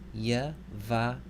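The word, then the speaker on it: יְבָרֶכְךָ: So this word would be pronounced Yavarechacha.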